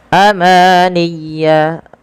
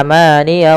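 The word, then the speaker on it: أماني: Nah, pada lafal bacaan ya tasydid harus ditekan. Jangan hanya, biasanya sering terjadi kesalahan adalah melafalkan ya sukun. Misalnya amaniya wa inhum, ditahan ya-nya padahal bukan. Atau dia amaniya wa inhum, tidak ditekan tasydidnya. Illa amaniya wa inhum. Nah, harus seperti itu.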